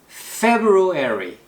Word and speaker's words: February: 액센트 이름절 February. 제가 좀 전에 한국인들이 자주 실수하는 발음이라고 말씀드렸죠.